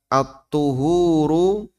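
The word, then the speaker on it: الطُّهور: Kalau dibaca at-tuhuru pakai dhamma artinya kegiatan. Kegiatan bersuci. Kalau dibaca at-tahuru pakai fathah ya. Artinya media.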